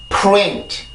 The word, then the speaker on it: print: 그리고 print라고 하는 단어도 rent 요런 소리가 아니라 print 요러한 소리로 만들어지게 돼요.